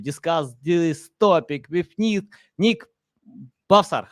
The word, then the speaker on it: Bhavsar: So it's Bhavsar. The H is silent. So Nick Bhavsar.